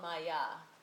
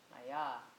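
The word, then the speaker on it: māyā: And so this period is what's called Maya.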